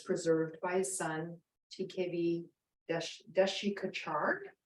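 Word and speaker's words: Desikachar: by his son tkb dashikachard is actually how you're supposed to say his name he said Desi guitar to make it easy for us which I just love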